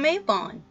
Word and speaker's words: Mabon: माबॉन (उच्चारण मई-बोन), जिसका नाम 1974 में रखा गया था।